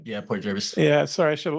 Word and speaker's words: Port Jervis: Yeah, Port Jervis.